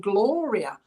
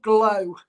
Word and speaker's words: Gloria: She said, now, she don't like to be called Glow. Okay, so she wasn't known as Glow. She says, my name is Gloria. And that's exactly how she's pronouncing it. Okay, so I'm waiting to see. That's why I keep repeating myself. She's, my name is Gloria, not Glow.